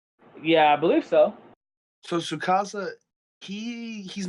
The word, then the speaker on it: Tsukasa: So, honestly, what I think is going to happen, like, Tsukasa, you say Tsukasa is how to pronounce it? Yeah, I believe so. So Tsukasa, he's not stupid.